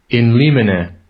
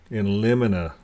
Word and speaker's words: in limine: it right let's go to the pron proper pronunciation okay let's see how we say it in get that in in in liina in in liina in Li in liina now this word means uh at uh in